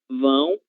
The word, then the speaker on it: vão: Mas sempre, sempre que nós tivermos a letra V, como acontece no verbo ir, quando ele está conjugado, nós deveremos pronunciar com som de V do português. Vai, vou, vão e vamos.